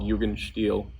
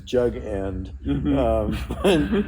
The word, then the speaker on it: Jugendstil: For somebody looking it up online, they'll look at it as jug end, but he's pronouncing it with the original language there.